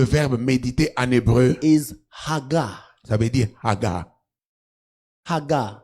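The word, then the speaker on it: הגה: that word meditate in Hebrew Mais le verbe méditer en hébreu, is haga. ça veut dire haga. Haga. Haga. Others pronounce it daga.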